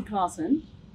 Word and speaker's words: Claassen: Classy Claassen. I wouldn't go with classy, but... But it's for pronunciation.